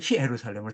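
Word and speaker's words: Ἰερουσαλήμ: 예수 그 성전 제사장 예루살렘 성전 히브리서와 요한계시록은 정확하게 예루살렘을 히루살렘으로 딱 발음해요.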